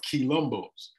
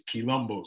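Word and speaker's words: quilombo: so this is just a map of some of the rebellions and what they call maroon communities or key lumbos Colombo is another African term it's spelled q u i l o m b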